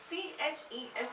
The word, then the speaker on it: chef: a exception you have c h e s c h e f is also chef it's not chef it's not